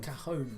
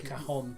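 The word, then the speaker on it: cajón: Cajon or cajon. It's different ways to pronounce it.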